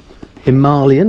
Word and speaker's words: Himalayan: put it that way himalayan is how it's properly pronounced did you know that i did not know that okay i've heard that yeah that's how the indians pronounce it must be right and